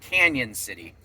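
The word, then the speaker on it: Cañon City: So, but anyway, today I am actually after dropping Aiden off at Kora's house, I am heading into it's spelled Canon City, but apparently it's pronounced Canyon City.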